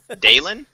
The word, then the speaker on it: Dalen: Is that how you say your name? No. How do you say it? Not like that. Dalen? Dalen. Yes. That's how I would pronounce it, yeah.